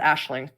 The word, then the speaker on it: Aisling: And it's pronounced Aisling.